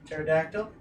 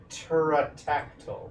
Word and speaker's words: Pterodactyl: It's called Pterodactyl. It's a pterodactyl. The B Yep. is silent. You got it.